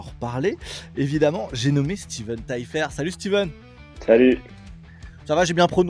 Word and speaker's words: Taillefer: il y en a, ils le prononcent bizarrement, mais c'est Taillefer, quoi.